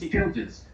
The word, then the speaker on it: Childers: It's Childers.